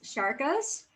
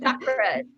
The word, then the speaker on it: chakra: She helps transform women's view of themselves through self love, I'm going to be challenged with this, Sharkas. Did I say it right? Chakras. Close. Chakra.